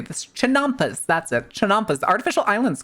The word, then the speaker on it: chinampas: Chinampas.